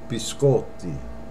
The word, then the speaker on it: biscotti: It's biscotti. And I hear a lot of Americans say, can I have a biscotti? Incorrect. Biscotti. And that means cookies, plural. Biscotti. Not biscotti.